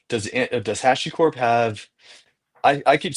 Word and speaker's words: HashiCorp: It is HashiCorp. Okay. Uh Hashi HashiCorp cuz yeah, it's from the Japanese word.